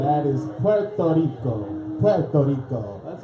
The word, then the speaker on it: Puerto Rico: In 1932, the United States Congress changes the name of Puerto Rico to Puerto Rico.